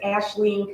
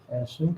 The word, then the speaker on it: Aislinn: to Rita McMahon, who is, again, you can pronounce the name of your company, so I don't butcher it. It's Aislinn Consulting. Aislinn Consulting.